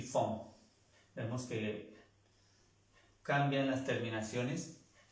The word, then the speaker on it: font: Ils, elles font. Font. La E y la N y la T no se pronuncian.